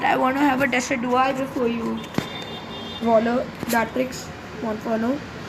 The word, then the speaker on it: Decidueye: I know the pronunciation, so I can say Decidueye. That's the correct pronunciation. Okay, so let's kill this guy. Decidueye.